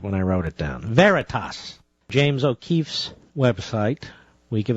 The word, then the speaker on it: Veritas: I believe he was Project verius is that how you pronounce it Mr Producer Veritas sorry I misspelled it when I wrote it down Veritas James O'Keefe's website we